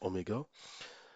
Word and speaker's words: oméga: ça cette cette lettre c'est une lettre grecque qui qu'on prononce Oméga et ωé en fait